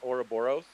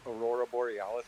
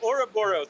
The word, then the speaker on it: Ouroboros: My favorite lore fun fact has to do with the Ouroboros, which, by the way, Bear can't even pronounce it. He pronounced it Aurora Borealis the other day on a stage.